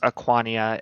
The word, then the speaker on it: Aquania: In common, her name is Aquania. In Elvish, it is Zania.